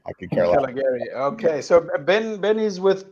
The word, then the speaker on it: Calegari: And That would be the Italian name to say it. I'm third generation. We say Calegari. I could care less. Calegari.